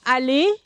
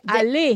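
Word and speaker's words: aller: e r yeah say Ali but that's the infinitive of infinitive yeah um this the r at the end is silent the e r is silent unless it has an e after it and then you have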